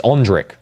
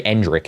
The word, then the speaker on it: Endrick: Say it like Ondrick. It's Ondrick. You don't say Endrick, it's Ondrick. That's actually how you say his name. I learned it from commentation classes, which I don't take. You actually say his name as Ondrick.